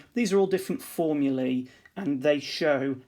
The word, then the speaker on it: formulae: formulas but we wouldn't say formulas we'd say formulae or types of formula and we'll have a